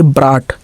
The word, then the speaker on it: brought: जैसे BROUGHT, तो इसको क्या पढ़ेंगे, ब्राट, ब्राट, ठीक, GH छोड़ दिए, ठीक है, ब्राट, ब्राट का मतलब लाया है।